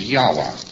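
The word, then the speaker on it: Yahweh: So they omitted all of the vowels in the word and they spell it only with its consonants. So Lord knows how this word is to be pronounced. But more agreed upon pronunciation among scholars so they could talk about it is Yahwa.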